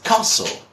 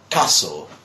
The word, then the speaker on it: castle: And many people say castle or whatever. I mean, they try to pronounce, trying to pronounce every single letter. And the pronunciation of this is castle. Just castle. So what you do is basically like take this away.